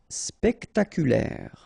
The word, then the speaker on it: spectaculaire: Spectaculaire. Okay, so don't insist on the final E, so l'air, spectaculaire, spectaculaire.